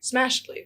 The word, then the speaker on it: Smashedly: Smashedly. not Smashly, Smashly. Smashedly. Like she's getting smashed. She's getting smashed ELY.